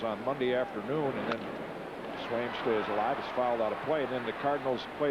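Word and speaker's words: Sveum: And Swaim, S-V-U-E-M, it's 1-1 now, is Norwegian. Pronounced Swaim.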